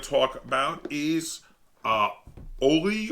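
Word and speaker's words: Holi: talk about is uh oli or holy i'm not quite sure the pronunciation i think it's oli i think the h is silent uh which is based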